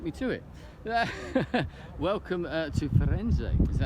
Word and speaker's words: Firenze: Welcome to Firenze. Is that how you pronounce it? Firenze.